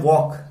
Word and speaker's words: walk: अब आप देख रहे हैं जब हम इसको प्रोनाउंसिएट कर रहे हैं वॉक, तो इसमें कहीं भी एल का साउंड नहीं आ रहा।